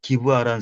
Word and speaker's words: 기브아: 한국말로는 한국 발음으로 기부하라고 하는데, 예, 그 몽골 음. 발음으로 베냐민 성읍 가운데, 다른 이스라엘 지파와 전쟁한 그 성읍이 기브아라는 성읍이 있거든요. 그게, 저기, 사울의 고향도 거기가 기브아예요. 음. 기브아라고, 예, 한국 발음으로 아하.